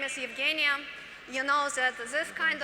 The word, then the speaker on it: Evgeniya: mislead my name so one more time my name is evgenia i'm a chief operating